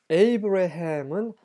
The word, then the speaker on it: 아브라함: 이제 대화를 하셨고 그래서 아브라함과 대화를 끝내셨다 것입니다 관련 구절입니다 아모스 아모스 3장 7절입니다 그 에모스 그 영어식 발음이 있고요 그다음에 히브리식 발음이 있어요 근데 에이브라함 그 영어식 발음이고 히브리어 발음은 아브라함입니다네 아브람도 에이브이 영어로 하지만